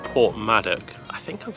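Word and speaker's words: Porthmadog: So I've just stopped for lunch in a place called Port Maddock. I think I'm saying that right. It's spelled with a dog at the end, so Port Madog.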